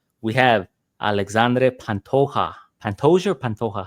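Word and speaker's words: Pantoja: How do you say Pantoia early on in his career they would say Pantoa and then out of nowhere people started saying Pantoia. So what is it? Yeah Pantoa Pantoa taking on Kai Carrance.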